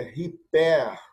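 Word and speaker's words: ὑπέρ: Então, a pronúncia aqui é riper. Riper. Então, quando nós temos a aspiração forte aqui, olha, é como se nós colocássemos aqui um H, que funciona em inglês como home, tá certo? Então, é riper.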